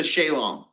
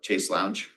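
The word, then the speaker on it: chaise longue: It's got the footrest, it's a shalong. That's the original pronunciation of a chase lounge.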